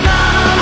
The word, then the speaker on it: numb: I've become so numb, I can't feel you there. I'd also hope that you know how to pronounce it. Numb. Silent B can also be found in such words as tomb and climb.